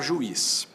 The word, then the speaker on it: juiz: Se eu pegar juiz, ju, is, o U para um lado, o I para o outro, isso é hiato, sim, porque eu tenho duas vogais que se separam, mas esse I tem